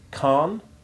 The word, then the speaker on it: Khan: But such a sound is alien to English, and you can regard the H as silent in words like Khan, Khaled, and Khmer.